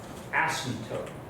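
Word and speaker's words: asymptote: 2 is called an ASM toe which I feel like I need to write because there's a silent s of Silent p in there this of course is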